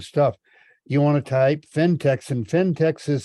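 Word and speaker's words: Phentex: get the wrong stuff you want to type fintechs and fintech is spelled p-h-e-n-t-e-x craft and slipper yarn that's very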